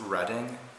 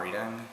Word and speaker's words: Reading: so it's warwick um but it's reading not reading it's uh weedsville not redwell